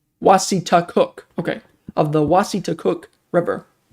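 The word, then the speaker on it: Wassataquoik: Oh, pronounced Wasitakook.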